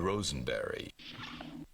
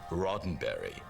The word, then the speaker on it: Roddenberry: Rosenberry. Silver, what is it? Where's Lieutenant O'Neill? What? Who? She said, I'm sorry, it's pronounced Roddenberry.